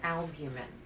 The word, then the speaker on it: albumin: so let's think of albumin albumin has three syllables in instead of it